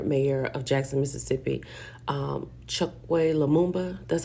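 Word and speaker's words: Chokwe Lumumba: Um, Chuck Leumba, that's how you say it.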